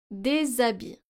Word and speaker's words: des habits: Des habits. Les étudiants. So here we're pronouncing des habits, even though H is a consonant, but this is a silent H, which acts like a vowel.